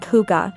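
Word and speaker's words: hygge: Pronounced huga, it describes a feeling of coziness, warmth, and togetherness.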